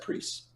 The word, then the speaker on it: Priest: Priest, spelt like price, but, pronounced Priest.